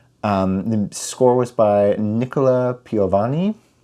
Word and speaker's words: Piovani: The score was by Nicola Piovani. I feel like I was able to pronounce it better because it sounds like Ludovico Einaudi, who's also Italian.